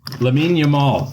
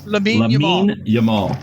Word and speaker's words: Lamine Yamal: Lamine Yamal. Lamine Yamal.